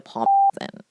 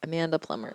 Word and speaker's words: Plummer: see which one Amanda plum in I mean plumber please bleep out when I get her name wrong just bleep it out Amanda Plummer okay prophecy is it